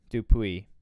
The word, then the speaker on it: Dupuis: The S is silent. Dupuis.